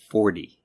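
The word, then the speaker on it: forty: The difference is that numbers in the teens are pronounced with a T sound, but multiples of 10 are pronounced with almost a D sound. So it's 14 and 40.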